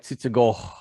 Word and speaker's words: Tsutsugo: he was in japan had an h at the end of his name because it's a long o but it looked like tsutsugo right anyways he took